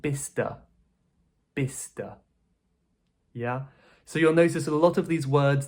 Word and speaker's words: Bicester: Apparently this is pronounced Bicester. Bicester. Yeah. So you'll notice that a lot of these words that end in "cester", the "ces" part is kind of deleted, so it's just Bicester. Bicester.